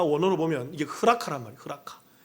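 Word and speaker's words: ῥακά: 흐라카. 이게 한글로 발음이 라가라고 발음이 되는 거죠.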